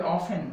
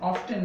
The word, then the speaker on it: often: তারপরে আরেকটি শব্দ রয়েছে OFTEN, এটার উচ্চারণ হবে অফেন, অফটেন না, অনেক মানুষ এটাকে অফটেন বলেন, এখানেও একইভাবে এই টি কনসোনেন্টটি সাইলেন্ট থাকছে, এখানে উচ্চারণটি হবে অফেন।